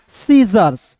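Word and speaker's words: scissors: फिर देखेंगे यहां पे एस सी आई तो यहां पे एस सी शुरुआत में है तो सी silent S आई C double S ओ आर एस तो क्या पढ़ेंगे दोस्तों? सीजर्स क्या पढ़ेंगे? सीजर्स पढ़ते हैं।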